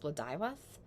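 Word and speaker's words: Blodeuwedd: of the name it would more appropriately be pronounced bludivas in the Welsh pronunciation even Guinevere who is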